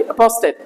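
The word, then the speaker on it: apostate: अपोस्टेट ये एक मात्रा रहेगी, अपोस्टेट, ये ज्यादा हो रखा है। अपोस्टेट ये वाला होता है रियल प्रोनाउंसिएशन, अपोस्टेट, ठीक है ना।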